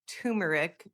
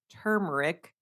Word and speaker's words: turmeric: I always said turmeric and it sounds weird. I know, it's one of those words. It's like I always thought it was turmeric, but it's turmeric.